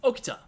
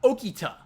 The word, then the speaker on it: Okita: have their names spoken it's tamamo not tamamo it's okta not okita the pendulum swings both